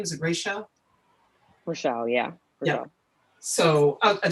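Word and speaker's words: Rachelle: pie chart along with the beautiful illustrations by Rachel Baker. Is that how you pronounce her name? Is it Rachel? Rochelle, yeah.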